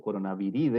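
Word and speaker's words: Coronaviridae: coronavirus etcétera nuestro virus pertenece a la familia corona habilidad o corona vida de la manera correcta de pronunciarlo a la subfamilia corona beer y corona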